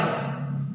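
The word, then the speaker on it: ρ: Ingat ya, bacanya rho.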